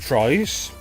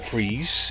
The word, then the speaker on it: Fries: And it was designed by Ed Fries, or Freeze. It's spelt Fries, but I'm told it's pronounced Freeze.